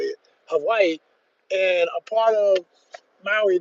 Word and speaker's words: Hawaii: Hawaii, and a part of Maui that he said most tourists never see it.